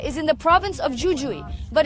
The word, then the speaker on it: Jujuy: The The village of Purmamarca is in the province of Jujuy, but in Spanish it's pronounced X in both cases.